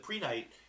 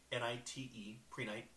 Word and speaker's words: Prehnite: So the Prenite, it's spelled Prehnite, Prenite.